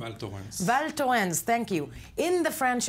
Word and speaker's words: Val Thorens: well how do you say that name adorns Val Joanne's thank you in the French Alps with some